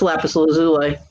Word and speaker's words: lapis lazuli: Okay, that's lapis lazuli. Lazuli. Lazuli. Sorry. How do you know it's pronounced that way?